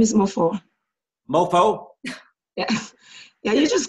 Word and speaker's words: Mofor: M-O-F-O-R, Mofo. Oh, okay, I'm glad. It's translated Child of the King in my dialect. The last R is silent in your dialect? Mofo, yes, that's correct.